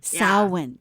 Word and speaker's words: Samhain: That's how you say it? Back to Samhain. Samhain, yes. Samhain, yeah.